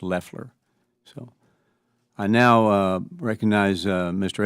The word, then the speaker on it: Loeffler: The administrator's last name is pronounced Loeffler.